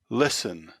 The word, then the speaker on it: listen: to the letter t butcher butcher castle castle listen listen often often although sometimes this can be